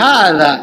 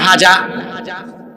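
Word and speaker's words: هذا: তারপর শব্দ হলো হাদা, হাদা, জালের উচ্চারণ জিহ্বার আগা আর দাঁতের আগায় লাগিয়ে বলতে হয় হাদা, আর সে বলে হাজা।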